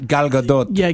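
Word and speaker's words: Gal Gadot: She says it very ethnic. Galadote. That's how she says it.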